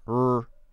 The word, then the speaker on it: really: The correct pronunciation is really. Really, really, really, really, really. Not really, really, no. Really, really. It's a two-syllable word. Two syllables.